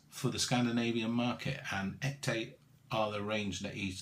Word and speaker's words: Ekte: It's called Ekte Spirits. I think that's how you pronounce it, E-K-T-E, or Ekte Spirits.